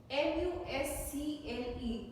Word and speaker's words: muscle: MUSCLE, it is muscle. C is not spoken.